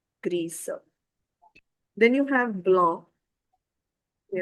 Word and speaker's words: grise: For gray color, we have gris and its feminine form become grise because of the e, the s take its sound. grise Then you have blanc.